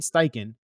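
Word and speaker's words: Steichen: stain how do you say his last name Sten Sten Shane styken definitely turned on that Jets Cardinal tape and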